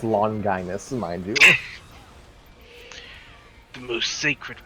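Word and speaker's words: Longinus: read it pronounce it it's pronounced long guinness mind you the most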